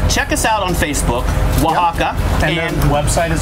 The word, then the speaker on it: Oaxaca: Oaxaca is spelled not in the Spanish language. We did it like this so that people could understand. We did it phonetically.